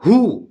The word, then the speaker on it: who: And if I say who, WHO, W is silent.